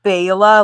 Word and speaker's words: Bela: It's pronounced Bela, like Bela Lugosi.